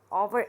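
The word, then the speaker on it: hour: अभी ऊपर बताया था एन ओवर ओवर H silent है ऑ ओवर तो यहां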